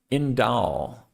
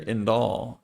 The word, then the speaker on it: Indol: This one is pronounced Indol. Um you can see a pronunciation right here, Indol.